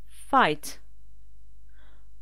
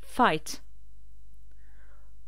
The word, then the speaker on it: fight: feel combattre se battre fight donc on ne prononce pas le G et le H ils sont barrés fight trouver find oublier Forget